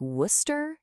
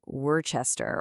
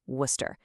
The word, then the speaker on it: Worcester: If you said something like Worcester, you absolutely nailed it. It's not Werechester or anything close to that, just Worcester.